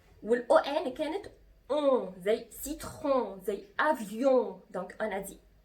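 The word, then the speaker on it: citron: دونك انا جي برونونسي، انا نطقت الاو ان اون، ملاحظين؟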